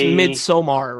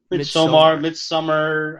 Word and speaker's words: Midsommar: Yes, which is it's pronounced Midsommar, right? Somar, yeah. Midsommar.